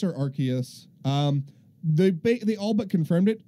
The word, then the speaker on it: Arceus: debate over name pronunciation it is Arceus based on the japanese so the way based